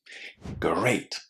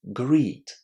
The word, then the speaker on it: great: Lots of students have a problem here because they say greet. But if you say greet, you're actually saying this word.